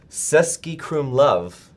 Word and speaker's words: Český Krumlov: So producer Evan, do you know how to pronounce that? Where he was? Because I can. It's Český Krumlov Okay.